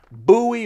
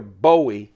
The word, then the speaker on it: Bowie: in 2019 there were two big buoy or Bowie depending on how you want to pronounce it two big bowie knives